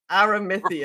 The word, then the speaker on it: Aramithius: Aramithius. For 6 months, I pronounced it with an E sound in the middle there, so I mean...